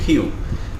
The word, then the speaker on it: queue: আসলে এটার কারণ হচ্ছে এটা একটা ফ্রেঞ্চ শব্দ যেটার অর্থ টেইল এবং ফ্রেঞ্চরা এটাকে উচ্চারণ করতো হচ্ছে কিউ ঠিক আছে সো এর